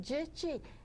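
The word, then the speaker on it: Jitchy: and I said well it rhymes with itchy just put a J in front of it and my husband used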